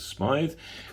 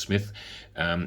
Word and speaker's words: Smythe: Paritech has a joint venture with a chap called Carl Smith, which has got spelt with a Y and an E, so maybe you pronounce it as Smythe, but I think it's Smith.